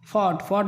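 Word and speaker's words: fought: अब जी एच की बात आती है, जी एच शब्द के अंत में जी एच या जी एच टी आया हो तो जी एच प्रायः साइलेंट होता है।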